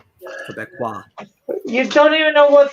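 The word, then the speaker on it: Québécois: Then I pronounced it right the first time when I said Quebecois. Quebecois. All French-like.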